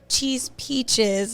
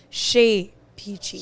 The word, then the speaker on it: Chez Peachy: But the correct French pronunciation would be Chez Peachy. Chez Peachy. So okay. Yeah, so it has like a little accent in it when you pronounce the E instead of the A.